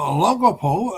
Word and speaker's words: Olongapo: But, I've been told it's Baybay, so I pronounce it correctly. Uh Now, Olongapo, I was told that's the correct way to pronounce it. That's the way it's spelled. Olongapo is right outside of Subic Bay.